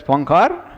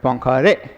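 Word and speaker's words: Poincaré: on h foreign metric this accent over the e right the what they call as the acute accent in the french oxen so that indicates that you pronounce it as a you don't read it as pankar but pankari okay and don't read this poincare so as i mentioned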